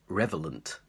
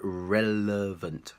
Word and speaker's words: relevant: word relevant relevant relevant be careful because the main problem here is people saying revelant and just mixing up the sounds so not revelant but relevant relevant here's an example